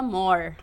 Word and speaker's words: Mohr: O meu more é m O H, mas a pronúncia é a mesma do inglês, que more significa mais. More. More. More. Mas é more, é origem alemã.